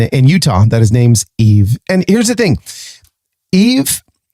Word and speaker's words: Yves: I would have pronounced it Yves. But I learned when we hung out a couple weeks ago that in Utah, that his name's Yves.